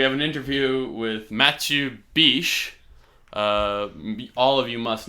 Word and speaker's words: Bich: name Matthew Bish because it is spelled and I believe pronounced Matthew Bish.